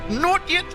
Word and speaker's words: Naughty: Not yet. Naughty, aka Not Yet, which I know is the correct pronunciation.